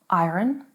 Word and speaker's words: iron: Iron? Well, you're wrong if you're pronouncing it like this. It is iron. Iron. Yes, not iron, iron.